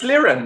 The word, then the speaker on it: Liren: It's Liren, no?